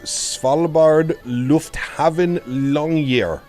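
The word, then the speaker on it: Svalbard Lufthavn Longyear: There's Svalbard Lufthaven Longyear.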